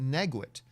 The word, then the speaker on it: Naguit: I just realized, I know it's the last name's pronounced Naguit, because in my school, I had people in my school with the last name Naguit.